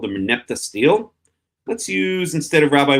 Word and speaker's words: stele: So first of all, let's take a look at this Merneptah Stele. There it is, and a stele, or Stele, I think it's really pronounced, but I always pronounce it stele.